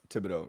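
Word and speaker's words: Thibodeaux: It's a pretty big topic right now across social media and the NFL after what happened to, I might be mispronouncing it. Is it Thibodeau? Thibodeau, yep.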